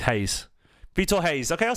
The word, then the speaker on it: Reis: And look, Vitor Reis doesn't look like Google pronounces Reis as Hayes.